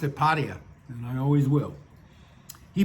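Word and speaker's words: Pattaya: I think it's supposed to be pata with the accent on the yah. But as much as a stickler for pronunciation as I am, I have always pronounced it pia and I always will.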